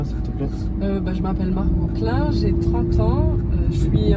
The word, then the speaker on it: Margaux Klein: Faut bien le prononcer là, t'es pas à fond sur le Klein. C'est Margot Klein.